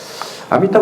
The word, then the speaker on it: 아미타: 그러니까 범어를 그대로 발음했는데 아미타 이렇게 발음을 한 거죠.